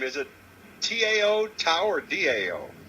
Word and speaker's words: Tao: your name is it tao tower dao it's pieo which in america we pronounce it the tao but it's really pronounced um dao the tao of the